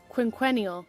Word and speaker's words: quinquennial: Am I saying that right? What does that mean? Recurring every 5 years. Quinquennial. Yeah, I said it right.